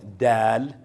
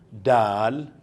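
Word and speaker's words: دال: Ito soft dal. Dal. Ayan ang itsura ng dal. Ang kanyang ah opposite sa English ay d or da.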